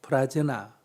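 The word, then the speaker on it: prajñā: 이게 우리식으로 발음해가 반야가 된 거예요. 원래는 빤야라는 거고요. 버머, 산스크리트어로는 프라즈나, 빨려로는 빤야 이렇게 부릅니다.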